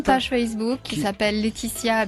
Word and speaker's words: Letizia: J'ai une page Facebook qui Qui- s'appelle Laetitia Alors Ouais. Letizia. Voilà, c'est un Z, c'est Voilà, Laetitia.